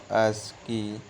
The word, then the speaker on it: ASCII: The most commonly used digital code in communication is the American Standard Code for Information Interchange, pronounced ASCII.